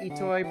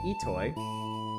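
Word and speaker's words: Itoi: You may not have heard the name Shigato Etoy, pronounced Ittoy before, but his face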